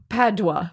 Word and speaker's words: Padua: It is Padua.